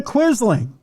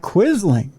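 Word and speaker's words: Quisling: yeah and he says Norm quit being a quizzing you know quit being a traitor to your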